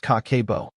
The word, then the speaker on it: Kakeibo: It is called Kakeibo, pronounced Kah-keh-ee-boh.